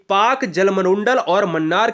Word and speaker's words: Palk: है, यह पाक जलसंधि PALK को हम पाक कहते हैं, ठीक है ना, इसमें यल साइलेंट होता है।